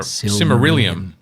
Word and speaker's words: Silmarillion: of the similarium or similarium whatever however you pronounce it similar simarillium thank you um and then just write a